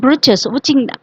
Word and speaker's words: breeches: He had a little wool shirt with old fashioned breeches, breeches which is nothing but uh, shirt and trouser. Okay. Right here spells it for fun to rhyme with the word witches.